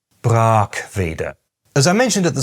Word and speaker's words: Brackwede: Those in the know, however, pronounce it “BRAAK-ve-de”.